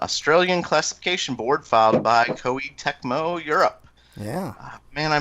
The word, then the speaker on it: Koei Tecmo: So anyway, Lost Legends and the Secret Fairy has appeared on the Australian classification board filed by Koei Tecmo Europe. Yeah. Man, I mispronounced the hell out of that.